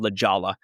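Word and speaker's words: La Jolla: I'm in a comedy rock duo called Lajala, Lajolla. Some people pronounce it with H's and Y's, but it's pronounced just like it's spelled.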